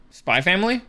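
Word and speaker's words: Spy × Family: So just as a like thing, you're not supposed to pronounce the X. Spy Family?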